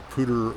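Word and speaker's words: Poudre: Good evening everyone and uh welcome to uh Pter River Campground and I am pronouncing that right. I've heard three different people say it that way. Pter River uh that ran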